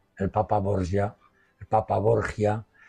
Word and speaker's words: Borgia: papa borgia el papa borgia como queramos pronunciarlo Borja en castellano que es el papá